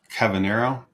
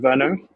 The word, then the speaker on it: Kyverno: Cavanero. Pronunciation. Kyverno.